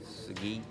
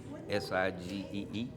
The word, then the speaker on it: Sigee: Sigee, Sigee.